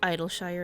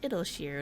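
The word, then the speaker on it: Idyllshire: share i used to read it as idol shire as well but then i was i found out it's actually pronounced it'll sheer and i was like why why is english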